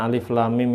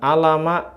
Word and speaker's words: alif lam mim: Ini tulisan alif lam mim ini bacanya bukan alama gitu jangan. Tapi dibaca seperti huruf hijaiyah yang asli dulu.